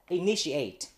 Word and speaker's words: initiate: Initiate. Initiate. Có nghĩa là begin. Start. Incept. And in this word, we have to pay attention to the letter T. Because T is pronounced sh, not th.